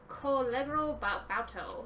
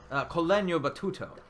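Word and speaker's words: col legno battuto: So the other technique I want to talk about was Collegro Bauto, and I'm pronouncing that horribly. Apologies to any Italians that are in the audience. What part? Sorry. Collegno Battuto. Yes, Yes.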